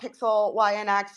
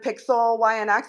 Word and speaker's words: PIXELYNX: I mean, obviously, from what I've read about PIXELYNX. You guys have a lot going on, co-founded by two huge music artists, recently acquired by Animoca. So tell us a little bit about the background of PIXELYNX and how you guys ended up here in